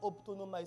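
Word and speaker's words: ὀπτάνομαι: Ça se prononce optonomai.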